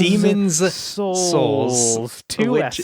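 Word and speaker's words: Demon's Souls: out and it does make sure you say it right demons demons souls yeah just the ridiculousness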